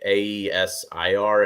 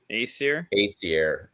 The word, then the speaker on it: Aesir: It's like, I don't know how to pronounce anything, but it's like Aesir and then the Vanir, like there. Yeah, those. Aesir and the Vanir.